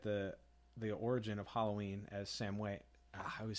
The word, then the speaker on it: Samhain: we also get the origin of Halloween as Samhain.